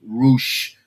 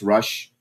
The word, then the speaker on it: Rush: So they were chanting rouch rou rouch. And by the way, it's rush.